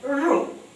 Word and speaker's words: ऋ: रूप जो है रु इसका उच्चारण मूर्धा से किया जाता है इसको कई लोग ऋ बोलते हैं जबकि ये ऋ नहीं है अगर यदि ऋ होता तो र में ह्रस्व ई की मात्रा लगती इसका उच्चारण र जीभ मुड़ती है और पीछे मूर्धा जहां कौवा होता है वहां पर जाती है और फिर ये उच्चारित होता है र हिंदी में इसका दीर्घ